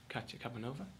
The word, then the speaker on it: Katya Kabanova: of Varvara in Opera North's current production of Katya Kabanova, which I hope I pronounced correctly.